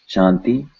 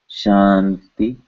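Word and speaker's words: शांति: Shanti, the N sound is pronounced in the same way we are saying ti, shanti, shanti, shanti, shanti.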